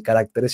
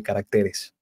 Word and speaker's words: caracteres: que me confundí porque en el plural no se dice carácteres sino que se dice caracteres Entonces cuando como el plural con como el plural se dice caracteres y el singular carácter me confundí y dije caráter de bueno en fin